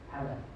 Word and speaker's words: Hala: How do you, forgive me. H? H-A-L. With a hat. Hala.